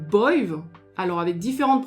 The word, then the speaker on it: Badb: Et enfin, la Banshee est appelée Boive, alors avec différentes prononciations selon les régions en Irlande, mais elle est appelée Boive, comme Boive Caha, le corbeau.